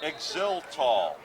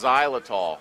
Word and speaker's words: xylitol: Spearmint Trident with Exiltol. Supposed to fight cavities. I think that was xylitol. Xylitol. Well, whatever. I pronounce the X. It's a hard X.